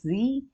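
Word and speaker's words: Sie: for there it is z and this as a small letter then for you all this is also formal this is also capital s i e this is the pronounced as Z so this both are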